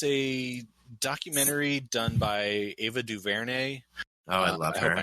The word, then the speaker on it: DuVernay: It's a documentary done by Ava DuVernay. Oh, I love her. I hope I'm pronouncing her.